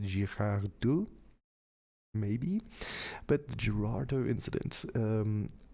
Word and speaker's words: Girardeau: look at is the I believe Americans pronounce it the Gerardo incident, but it's written in French, so even though it's in Missouri, I believe the French would pronounce it Girardeau, maybe.